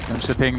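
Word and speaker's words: Jönköping: Jan Scherping, the home of DreamHack. Oh, thank you. Production said I pronounced it right.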